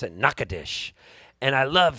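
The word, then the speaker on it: Nacogdoches: way nakadish sounds because it looks like it's spelled like nakadochis but they pronounce it nakadesh and i love saying nakadish and that got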